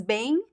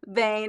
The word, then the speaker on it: bem: A pronúncia, Alexi, I like your bem. It makes sense. It makes sense. You have like the nasal sound, the two vowel sounds, right?